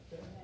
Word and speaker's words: Perez: Perez.